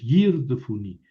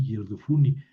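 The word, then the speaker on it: ירדפוני: no es el acento, no es Yirdofuni, no, es aquí Yirdofuni, pero la Biblia tampoco trae el acento, el signo de puntuación aquí.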